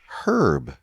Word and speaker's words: herb: But that's the whole point, is it all stems from the word herb that is actually more appropriately pronounced herb.